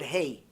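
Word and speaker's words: ה: So, for example, the word hey. A lot of people don't know how to pronounce the word hey. They pronounce it like aleph. Instead of saying he, like an H, they say E.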